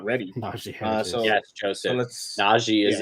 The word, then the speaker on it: Najee Harris: I mispronounced his name. Najee Harris. Najee Harris.